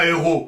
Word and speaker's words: héros: Mais qu'importe, puisqu'actuellement, on ne prononce plus le S à la fin des mots. On dit un héros au singulier, et on dit des héros au pluriel. On ne le prononce plus.